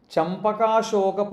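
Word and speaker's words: Champaka Ashoka: The next one is Champaka Shoka Punnaga Saugandigala Satkacha. Champaka Shoka Punnaga Saugandigala Satkacha. So Champaka, the way it is written separately is Champaka, Champak Ashoka, Champak Ashoka, Punnaga Saugandiga Lasat Kacha.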